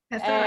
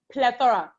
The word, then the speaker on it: Plethora: Plethora. And Plethora. It means abundance. It's PLETHORA. Okay. The R is silent.